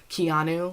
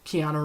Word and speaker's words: Keanu: say like that because I want to say the Joe keanu like Keanu Reeves but it's Keanu so I have to emphasize the a on ooh to make sure I say it right but yeah the JAL